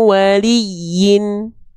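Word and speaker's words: وَلِيٍّ: Min waliyyin. Min waliyyin. Liyin nama bacanya apa? Nabr untuk huruf ya bertasdid namanya adalah nabrah atau nabr. Penekanan yang penekanan yang lebih kuat ya.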